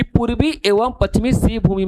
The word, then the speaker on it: सिंहभूम: और खेतड़ी याद रखना, खेतड़ी राजस्थान में है, और सिंहभूमि कहां पर है? झारखंड में। सिंहभूमि नहीं, सॉरी, सिंहभूम, बार बार प्रोनाउंसिएशन में कर रहे थे हम, सिंहभूमि, सिंहभूम, जगह का नाम है सिंहभूम, ठीक है।